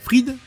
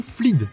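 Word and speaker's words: Fleed: D'ailleurs, c'est Doug Fried, prononcé Fried, mais c'est écrit partout Flied, qui est aussi valide.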